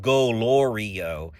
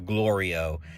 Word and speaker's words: Glorio: didn't notice it but he kept saying gorio instead of glorio and glorio always like